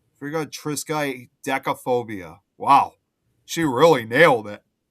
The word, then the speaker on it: triskaidekaphobia: No, I Uh, was just reading okay, so Kate put how you're supposed to pronounce that really long word. Friga triskaidekaphobia. Friga triskaidekaphobia.